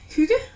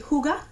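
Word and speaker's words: hygge: uh it's all about the word Huga or what some people would say here that can't pronounce the why the same way it would be Huga and that is really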